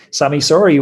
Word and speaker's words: Sami Sauri: 200 kilometers getting that average speed up sammy sorry welcome to the road man cycling podcast thank